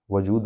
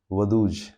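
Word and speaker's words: Vaduz: यहां पे स्विट्जरलैंड से लगे हुए एक कंट्री है उसका नाम है लेचिस्तिन जिसका कैपिटल है वजूद। वदूज। वजूद नहीं वदूज।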